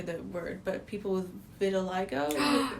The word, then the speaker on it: vitiligo: And then, I'm going to butcher the word, but people with vitiligo? How do you say that? It's vitiligo.